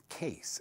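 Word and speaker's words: Caisse: That was the original Renee Case, C-A-I-S-S-E. That's spelled backwards, not Renee, but Case spelled backwards is SEAC.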